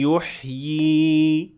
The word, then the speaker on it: يُحْيِي: So when I stopped at the word يحيي, I pronounced both ya, the one that is written and the symbol as well, even if I stopped at it.